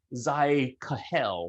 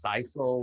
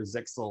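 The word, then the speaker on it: Zyxel: to say this um i think i'm going to say uh zai kahel because i know that's not how it's pronounced i think it's sisal or zixel or something anyway their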